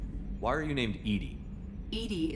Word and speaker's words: EDI: are you named edie edie is the phonetic pronunciation of e d i that is an acronym